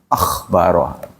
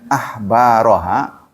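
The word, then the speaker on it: أخبارها: Hati-hati tuh mengucapnya akhbaroha. Kalau Anda bacanya akhbaraha maknanya sudah berbeda.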